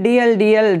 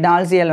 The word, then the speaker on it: Dalziel: So British இங்கிலீஷில் வந்து Thomas Kennedy டால்சியல் வந்து தாமஸ் கென்னடி டிஎல் அப்படின்னு சொல்லி தான் இருக்குது. ஸோ அந்த ஒரு நடுவில் இருக்கக்கூடிய அந்த ALIZ அந்த ஒரு வார்த்தை எல்லாமே சைலண்டில் வந்து போயிடும்.